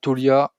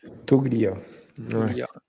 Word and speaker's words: Toglia: Toglia Tolia Tolia Toglia c'est c'est comme toi qui appelle la famille Glia en italien quoi. Ou Jacques Kaglianoné hein non le G ne se prononce pas.